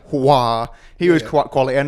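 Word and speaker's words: Aouar: It's Houssem Ouar. Ouar.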